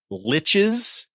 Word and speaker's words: lich: a servant of seven liches and yeah I'm saying Lich I know that there's a heated debate out there on how to pronounce that word l-i-c-h and I'm not trying